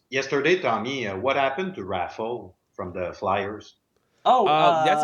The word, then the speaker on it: Raffl: Raffle. Raffle.